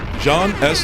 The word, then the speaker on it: Jean S.: my guest we have none other than je John S is that how you say am I pronouncing it correctly yes sir all right all